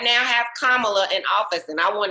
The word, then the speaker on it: Kamala: we right now have kamala in office and i want to encourage people to say her name right spell the word comma and then say love right so kamala because i'm not even going